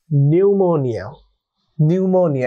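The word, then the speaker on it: pneumonia: ওকে বন্ধুরা, তাহলে দেখো পরবর্তী স্পেলিংটি হলো নিউমোনিয়া। এটা পি দিয়ে শব্দটি শুরু হওয়া সত্ত্বেও আমরা উচ্চারণ করছি নিউমোনিয়া। ব্রিটিশ অ্যাকসেন্ট এটাকে বলছি আমরা নিউমোনিয়া, অ্যান্ড আমেরিকান অ্যাকসেন্টে আমরা বলছি নিউমোনিয়া।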